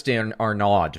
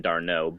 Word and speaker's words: d'Arnaud: to me about catcher Travis Dan Arnaud right is that how you pronounce it I'm not as familiar with him because I don't go as deep into baseball as you you do but tell me what you think about catcher there um I'm Billy actually it's pronounced I believe d'Arnaud but dart knows it's